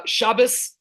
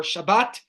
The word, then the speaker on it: Shabbat: Uh Shabas or Shabbat depending how you want to pronounce it is our day of rest.